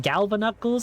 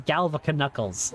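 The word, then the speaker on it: Galvaknuckles: I knew a guy once that pronounced Galva Knuckles as Galvica Knuckles. Like, pronounced the K in them.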